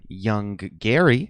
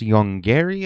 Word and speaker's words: Yonggary: I like to call it Yonggary. However, the film is properly pronounced Yonggary, I think.